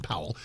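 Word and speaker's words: Pawol: Her name is Jen Powell, and it's spelled P A W O L, but I think it's pronounced Powell. Jen Powell.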